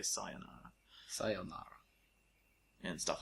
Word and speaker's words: sayonara: You said sayonara. Sayonara. Most people say sayonara. Sayonara. When the correct one is sayonara. Sayonara. But when you say sayo, because that's a Y sound, it makes it sound like